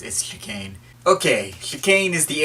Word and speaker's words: Chicane: place you can't forget apologies if I end up pronouncing this guy key Connie I keep wanting to say it that way but it's askew cane okay you cane is